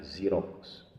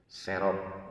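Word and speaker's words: Xerox: yang terkenal itu namanya Zerox ya, nulisnya X E R O X ya, serok gitu ya. Tadi dibacanya zerox.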